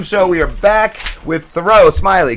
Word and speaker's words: Thoreau Smiley: Rob and Slim Show, we are back with Thoreau Smiley, correct? That is right, yep. What's going on, First try, good one. Did I pronounce it right?